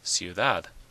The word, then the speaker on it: ciudad: Ciudad, ciudad. It ends in a D, not an N or an S. So the stress is on the last syllable. Ciudad.